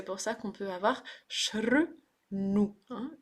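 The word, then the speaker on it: शृणु: ça qu'on peut avoir shrnu. Hein. Nu, c'est le même n que Ganesha. Murdanya, Murdanyana. Donc c'est une cérébrale. Qui se prononce en recourbant la langue dans le creux du palais.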